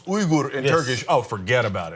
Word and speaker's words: Uygur: real and yuger okay and it's actually pronounced Ur in Turkish oh forget about it forget about